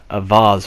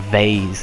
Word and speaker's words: vase: I was just sort of like, oh, he's in a vase or a vase, as some people pronounce it.